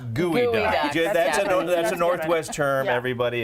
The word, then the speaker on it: geoduck: It's gooey duck.